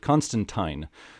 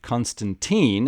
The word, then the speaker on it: Constantine: character and pronounces it Constantine Americans have long pronounced it Constantine and the 2005 Hollywood movie reinforced that this looks like a case of American versus British pronunciation a person could argue